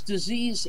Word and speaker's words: disease: that 30-day program, that you pronounce disease as dis-ease. You always say it that way. You say somebody might have a dis-ease.